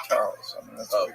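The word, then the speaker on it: Chas.: Yeah, it's spelled C-H-A-S period T period M-A-N. Oh, Chas T. Main. Yeah, but it's Charles.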